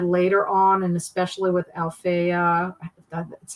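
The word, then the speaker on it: Alafair: Her stuff that she's had later on, and especially with Althea, that's how you pronounce her name, Burke.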